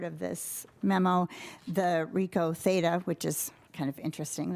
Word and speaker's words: Theta: Another little interesting um part of this memo, the Rico Theta, which is kind of interesting that it's called a Rico Theta actually pronounced theta probably 360 camera will